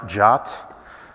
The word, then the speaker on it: JWT: It is pronounced Jot. It's also a lot less words than JWT. It's less of a mouthful.